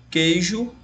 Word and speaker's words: queijo: E como que o ele não é pronunciado no caso U, eu vou ter apenas 5 fonemas.